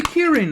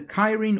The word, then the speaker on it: Kirin: I mean, it's a ki-rin or Kirin. I'm going to call it a Kirin because I think it's more close to the original folklore material, which I believe is Japanese or at least Asian.